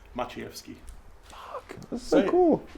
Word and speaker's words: Maciejewski: Maciejewski. Fuck, that's so cool. Maciejewski. Maciejewski.